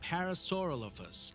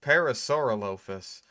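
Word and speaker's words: Parasaurolophus: Show that parasauralopus and diverse parasauralophus. I mean, okay, on the one hand, he does have the accent, right? So, that makes it kind of hard to to ah, shame on you for mispronouncing that.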